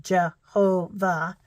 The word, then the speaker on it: Jehovah: Here it says Jehovah, but it's Jehovah, 3 different syllables instead of saying it all together.